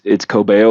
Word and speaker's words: Cobeo: It's Cobeo, like Kobe Bryant, Kobe, and then YO, Cobeo.